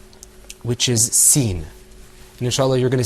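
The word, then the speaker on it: س: Now, let's move on to the next letter, which is sin. And inshallah, you're going to see that coming up on your screen. Okay, let's pronounce that word.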